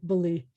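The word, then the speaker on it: בלי: So if I just wrote it B-L-I, it would still sound like beli.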